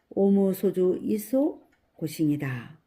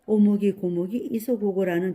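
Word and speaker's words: 応無所住而生其心: 응당 머무름 없이 그 마음을 낸다는 응무소주 이생기심을 일본 발음으로 하면 오무소주 이소고싱이다. 그런데 그녀는 오무소주 이소고싱을 잘못 알아듣고 오목이 고목이 이소고고라는 비슷한 음으로 늘 외워왔던 것이다. 그 발음은 잘못된 것이요. 앞으로는 오무소주 이소고싱 이렇게 말씀하시오.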